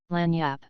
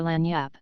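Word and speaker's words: lagniappe: nice limber expressive handy word lanyap they pronounce itlaniyap it is Spanish so they said we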